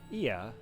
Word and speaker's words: Ia: When the vibration of vocal folds was still required to convey our thoughts and intention, Ia, I believe, was the pronunciation used when referring to our people.